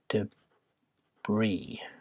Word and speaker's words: debris: This is pronounced debris, by the way. Stresses on this bit here, debris. It's a French word.